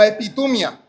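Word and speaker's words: ἐπιθυμία: En español sería más o menos como epitumia.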